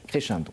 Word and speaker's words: Crescendo: C'est comme ça qu'on le prononce, Crescendo, voilà.